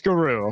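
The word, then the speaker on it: Garou: She can't pronounce right. Okay. It's apparently it's guru.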